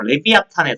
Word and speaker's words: 레비아탄: 그 정확한 발음은 사실은 뭐 레비아탄에 더 가까운 거 같은데 미워야단 레비아탄 같은 말입니다.